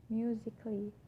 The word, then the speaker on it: musically: So, for the letter A can be silent, especially in words that end in A-L-L-Y. For the examples, basically, romantically, musically. So I'm not pronouncing basically, romantically, musically, just pretending that the A wasn't there.